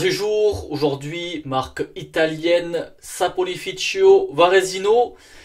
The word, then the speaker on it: Saponificio: Aujourd'hui, marque italienne Saponificio Varesino. Donc je pense que plus en français, on a l'habitude de dire Saponificio, mais pour la prononciation italienne, c'est Cio Saponificio, qui veut dire savonnerie.